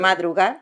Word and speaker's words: madrugar: Mucho madrugar, how do you say Madrugar.